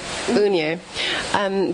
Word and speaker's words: Unija: And is Udin, I can't say the name, what, how do you say the name again? Unija.